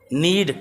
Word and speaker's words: knead: Knead, K-N-E-A-D, knead, K silent है, K is silent here, mind you.